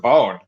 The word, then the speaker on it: Bohn: I pronounce it Bone.